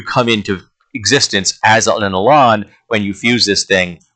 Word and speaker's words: Elan: And what I'm choosing is the species Elan. It's E-L-A-N, and I've always pronounced it Elan. I don't know if anyone pronounces it Elan. I pronounce it Elan. This seems a little classier to me.